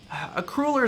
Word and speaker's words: cruller: Like a cruller is not where I'm going, but it's Cruller? I pronounce that cruller because it's written cruel and so it's it's probably anyway, it doesn't matter.